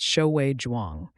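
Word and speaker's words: Xiaowei Zhuang: In 2006, that someone was Shiae Jwang, pronounced Shoui Jwang, a Harvard physicist with an eye not just for the invisible, but for the impossibly small.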